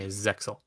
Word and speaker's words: Zexal: that word exes yeah because it's z-e-x-e-l it's excellent and they even talk about it in the anime Zexal yeah okay when it